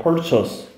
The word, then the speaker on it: purchase: 자, 구매, 구입, purchase. chase를 발음하면 돼. purchase.